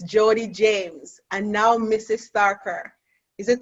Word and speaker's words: Tharkur: Tharkur. Is it Tharkur? You have to help me. Pronounce it for us. Tharkur. Tharkur.